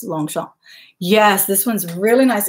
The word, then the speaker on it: Longchamp: word Oh long shot it's lomg as in long champ but the French pronunciation is long Chomp and its lomg CH a MP a lot of people say Longchamp but it's long shot yes this one's really